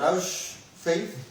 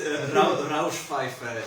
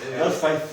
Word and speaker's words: Rauschpfeife: For example, the Rausch Faith. I don't know really how to pronounce. No, it's Rauschpfeife. Rauschpfeife. Yeah, it's German for noise pipe.